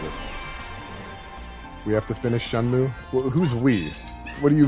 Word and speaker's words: Shenmue: It's Shenmue, right? Shenmue is how you pronounce that.